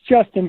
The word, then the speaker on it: JSTN: It's Justin, but it is spelled JSTN. All cap.